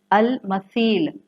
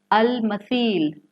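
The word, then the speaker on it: المثيل: The third level is अल मसील. मिसाल से है, जिसको आप अरबी में सा को सॉफ्टली प्रोनाउंस करते हैं. अल मसील, मीम सा या लाम.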